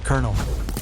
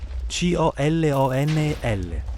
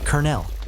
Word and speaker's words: colonel: The correct pronunciation is kernel, like the kernel of popcorn.